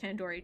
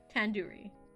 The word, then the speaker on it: tandoori: least recognized tandoori chicken you're saying it wrong wait really Tandoori Tandoori well I've been saying it wrong the do isn't like door it's like doo-doo head are you five years old you can't just say like do as in due date can do re Tandoori I